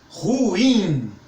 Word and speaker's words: ruim: isso aconteça por enquanto essa palavra é oxítona então força no i ruim ruim pode exagerar mesmo Sutil ureter então todas